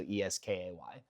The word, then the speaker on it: Eskay: Okay, Special K is SK, ESK, and then let me just like phonetically spell out the whole thing. So ESKAY.